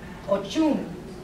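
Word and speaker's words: Oshun: Say her name with a CH like Chango's power, or with an SH from a shaman's mysterious allure. Ochun.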